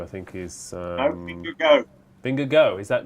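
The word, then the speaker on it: Vingegaard: vinger guard who I think is uming go vinger go is that not okay there that's how you pronounce it he's he's a named after the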